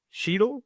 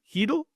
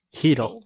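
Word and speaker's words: Chytil: said that right right sheel heel heel heel that's right you don't pronounce the C Marcus patteron Drew o'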